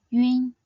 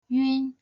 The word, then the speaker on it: ün: Next, yun. Yun is a nasal final, so start by sounding the simple final yu before closing into an n sound. Yun, yun.